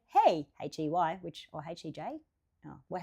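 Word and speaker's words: hej: Well, I'll say, hey, no, that's how we say hey, but H-E-J is how you spell it in Swedish, Swiss, Sweden, with the two Switzerland.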